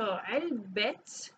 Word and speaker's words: علبة: So علبه فراولة. So we pronounce the ta because there's an ownership and a relationship between the strawberries and the box.